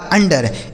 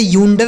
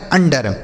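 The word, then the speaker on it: under: यू एन डी ई आर अंडर इसे यूंडर नहीं पढ़ेंगे अंडर क्या पढ़ा जाएगा अंडर यू एन सी एल ई इसे पढ़ेंगे दोस्तों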